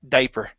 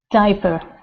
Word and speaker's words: diaper: okay this word here instead of diaper it's only a long eye sound so it's diaper diaper good yeah so we don't we don't have to pronounce that a there okay and last one